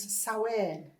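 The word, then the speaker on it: Samhain: But before that it was known as sain and that's a Celtic word. Um it can be a little bit difficult. It's written here and it's spelled s a m h a n and that's um a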